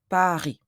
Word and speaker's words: Paris: In French, we don't pronounce the final S. We say Paris.